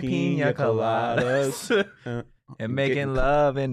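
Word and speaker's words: piña colada: Tastes like a pina colada to me, honestly. Are you really pronouncing the N in pina colada like that?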